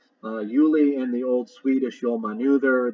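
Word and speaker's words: Giuli: The G is pronounced like a Y. Juli in the Old Swedish Jolmanuther, the Icelandic Ulir, that's spelled Y-L-I-R for Euler.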